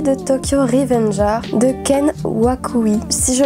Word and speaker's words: Ken Wakui: vidéo il s'agit de tokyo revenge art de kent waku ici je prononce bien au tout début de l'histoire on